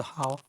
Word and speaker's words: 蒿: 草字头，也有念艾高的嘞，应该是蒿，草字头一个高低的高，念作蒿。